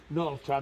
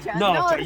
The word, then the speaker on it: Norcia: So this is a special and Norcia that is far away, 25-30 minutes driving, is the world capital of melanosporum, no?